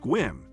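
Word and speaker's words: Sequim: Number 14, Squim. Squim, pronounced Squim, sits in the Olympic rain shadow with just 6,800 people.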